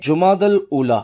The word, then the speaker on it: جمادی الاولیٰ: لغت کے اعتبار سے ان دونوں مہینوں کے درست نام اور صحیح تلفظ یہ ہیں جمادی الاولیٰ، جمادی الاخری اور جمادی الاخرہ۔ پیارے پیارے اسلامی بھائیوں،